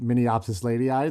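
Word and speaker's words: Mnemiopsis leidyi: name if you're curious the spelling is nothing like Min opsis lady ey that's just how you say it I love that for everyone who tries to spell it which is including myself it's got one of those it's the the Min opsis is m n m i o p s i s why good times good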